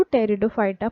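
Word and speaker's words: Pteridophyta: हैं टेरिडोफाइटा टेरिडोफाइटा में पहले पी लिखा हुआ है ठीक है पीटी इस तरह से स्पेयरिंग है इसमें साइलेंट है इसको टेरिडोफाइटा पढ़ा जाता बाद में इसी आदि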